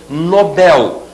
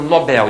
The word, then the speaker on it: Nobel: novel relativo a novo Nobel né o prêmio Nobel em português essa palavra é oxitona não se diz prêmio Nobel e sim prêmio Nobel oxítona então estão